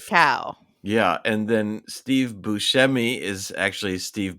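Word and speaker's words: Buscemi: so liow like cow yeah and then Steve Bushi is actually Steve Bui even though he found out that some of his relatives pronounce it either way and then um and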